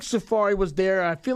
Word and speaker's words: Safaree: Yeah, I ain't never heard nobody say his name other than Safaree. Safaree and Seraphie. Seraphie and Safaree. I kept reading that shit wrong as hell.